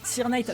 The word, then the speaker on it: Sirknight: Comment on dit Cirque Knight ou Sir Knight Sir Knight. Ouais, en même temps, ça m'étonne pas, on prononce ça à l'anglaise, bah, mais avec l'accent français.